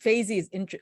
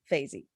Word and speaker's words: Faizi: My first name is and my last name is Faizi. Faizi is easier because it rhymes with daisy or crazy or lazy, whichever you want to put it. But Faizi.